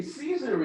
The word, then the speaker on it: Caesar: The word in Hebrew, Kesar, and we would say Caesar in English. the original pronunciation of the C in Latin is K, salud.